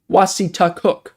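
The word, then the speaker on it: Wassataquoik: Oh, pronounced Wasitakook.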